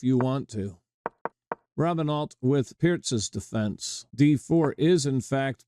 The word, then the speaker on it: Pirc: Often mispronounced Perk, but it's pronounced correctly. Pier, named for Vasia Pierz.